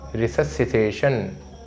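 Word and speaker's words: resuscitation: pulmonary रिस रिससिटेशन रिससिटेशन कैसे उच्चारण करेंगे इसका कार्डियो पल्मोनरी रिससिटेशन ठीक है रिसस सिटेशन ठीक है इसका उच्चारण थोड़ा सा गड़बड़ है रिससिटेशन कार्डियो पल्मोनरी रिससिटेशन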